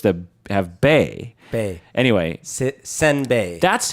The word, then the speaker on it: senbei: not a real word the real word is senbei which which are two different syllables you got sim like Sims like Sim City like Simba yeah and it's supposed to be sin sedin so that's completely different and instead of